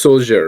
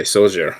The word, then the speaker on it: Soljur: be playing Kareku, and it's Soljur, right? Yes. Okay, Soljur. Okay, I'm gonna make sure I say it right. Soljur.